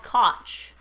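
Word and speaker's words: Kotch: Matthau who we talked about earlier it's called koch haha koch how do you spell that KO TCH not to be confused with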